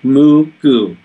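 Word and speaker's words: Mugu: And if you look at the map, it's spelled M-U-G-U, Moo-Goo.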